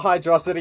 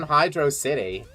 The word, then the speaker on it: Hydrocity: Your Hydrocity is some Mega Mind bullshit. It's very smart. It's smarter than Hydro City. That's how I always saw it, at least. It's pronounced Hydrocity because velocity.